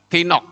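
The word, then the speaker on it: תינוק: Tiknok. Ya. Itu bayi, saudara. Padahal yang tertulis itu adalah yelet. Bukan tiknok. Ya. Tinok. Ini kan bacanya tinok, saudara-saudara.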